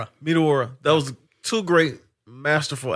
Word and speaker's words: Meteora: Is how you pronounce it? Meteora. Meteora.